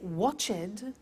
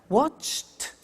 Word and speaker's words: watched: d what happens is the pronunciation becomes T we don't say watched we eliminate the E and we say watched okay interesting he so look at that watched danced eliminate the E